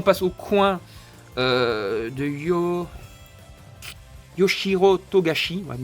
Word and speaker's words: Togashi: Ici on passe au coin de Yoshiro Togashi. Ouais, Togashi. J'avais prononcé ça mal là tantôt je pense. Hein. Donc, Togashi.